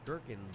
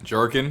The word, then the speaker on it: gherkin: because gherkin rhymes with workin. What were you thinking? 2 teaspoons finely chopped capers, Jerkin?